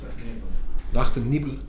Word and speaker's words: Nacht und Nebel: Did I pronounce that correctly? Nacht und Nebel.